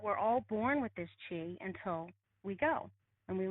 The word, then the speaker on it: Qi: And then there's Qi, which is Chi. And many people say, well, what's the difference? It's pronounced the same, but there's two different words.